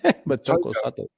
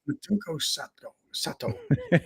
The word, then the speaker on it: Motoko Sato: Motoko Sato. Motoko Sato.